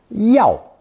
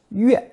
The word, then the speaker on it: 钥: This character is today pronounced yao, yao. But dictionaries also list yue as an alternate pronunciation.